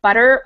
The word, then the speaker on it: butter: it's sort of similar to make butter or bottle so it sounds a little like a d even though it's really a little different even than a d it's just called a flap so you just kind